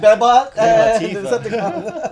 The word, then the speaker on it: Bebot: It's like the Autobots. Bebot.